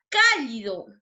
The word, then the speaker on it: cálido: La palabra cálido. Cálido. ¿No? Cálido. ¿No? La mayor fuerza de voz la tiene en la sílaba K, ¿no? Es una palabra esdrújula, por lo tanto va a tildar.